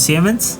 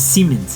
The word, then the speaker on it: Siemens: Aquí nosotros decimos Siemens, Siemens. pero es Siemens. Sí, Siemens. Es que el I-L-I-L-E se pronuncia como un I largo.